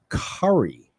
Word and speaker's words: Currie: Currie. And I pronounced the whole thing.